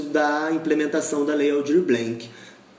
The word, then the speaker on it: Blanc: implementação da Lei Aldir Blanc melhor Aldir Blanc eu pronuncio como errado é blanquet que se fala e aí é E